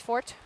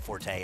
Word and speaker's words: Forte: The word is pronounced Fort. Yes. We previously had a horse whose owner wanted the horse pronounced incorrectly, and that's fine. I'm somewhat kidding. The correct pronunciation is Fort, but it's one of those words that, you know, people call Forte, and it's fine.